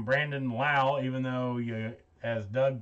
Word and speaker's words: Lowe: also known as brandon lowe around here uh we've been calling him low seen on the broadcast last night about how his name is pronounced lao so i guess i'll pronouncing brandon lau even though you as